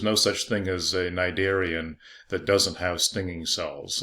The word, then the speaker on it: Cnidaria: And there I just gave you the phylum name, Cnidaria. And it's named after those stinging cells. The stinging cells are known as cnidocytes, and the phylum name is Cnidaria, and they both have a silent C.